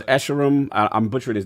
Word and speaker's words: Escharum: LordCognito says Escharum. I'm butchering his name. I'm sorry, I don't know how to pronounce it. So what is it? How you pronounce it? It's Escharum.